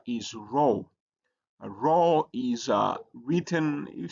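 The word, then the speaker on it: rho: The next letter is row.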